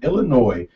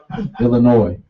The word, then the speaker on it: Illinois: unless you're suffering stevens you do not pronounce the s in illinois you might as well just slap us in the face illinois illinois i don't think